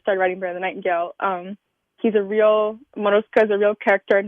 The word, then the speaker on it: Morozko: if I'm going to, correct me on the pronunciation, is Morozko, is that right? Mm-hmm. Morozko, yeah.